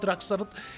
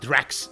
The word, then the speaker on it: Drax: Direkt aralarına karıştı ya Drax'ın. Yani Drax diye söylemek daha doğrudur arkadaşlar. Drax diye söylenmez.